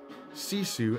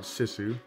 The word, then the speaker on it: Sisu: I found out that it is pronounced Sisu and not Sisu, but you can see kind of a smoky shadow of her there.